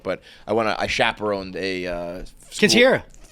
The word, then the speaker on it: Quinceañera: Quinceañera. It's not Quinceañera, dude. It's Quinceañera.